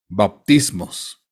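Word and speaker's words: βαπτισμός: una primera palabra griega que se que se pronuncia bautismos y de acuerdo a esta palabra griega bautismos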